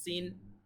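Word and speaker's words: سين: দেখতে পাচ্ছি সেটা হচ্ছে সিন যেটা কিনা ইংলিশের এস এর মত উচ্চারণ ঠিক আছে ইংলিশের এস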